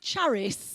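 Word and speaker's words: χάρις: from the greek word i'm going to pronounce it charis because it's from the word charity what charity is ch AR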